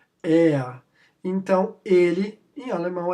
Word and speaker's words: er: Entre aspas aí a pronúncia, er.